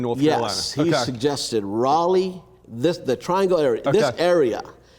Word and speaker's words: Raleigh: To me, Raleigh, in my mind, is Rollie. That's Raleigh, So when I got here and I started asking people about Raleigh, and they would say, you mean Raleigh?